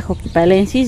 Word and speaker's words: xochipalensis: Bueno, se escribe xochipalensis, pero según yo se pronuncia joquipalensis.